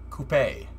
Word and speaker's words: coupe: the miata what's a coop c-o-u-p-e i don't know i forget what you guys call that it coupe yeah it's french it's pronounced coupe yeah are you guys